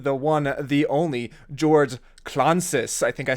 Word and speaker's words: Klontzas: Hey everybody, this is with Brutal Resonance, and I'm here with the one, the only George Klontzas. I think I pronounced that right this time.